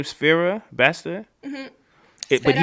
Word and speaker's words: Sfera Ebbasta: That's how you pronounce his name, Sfera Basta.